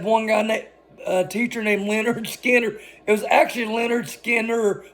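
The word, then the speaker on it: Lynyrd Skynyrd: it was of course Leonard Skinner recorded on their debut album pronounced Leonard Skinner another fun fact for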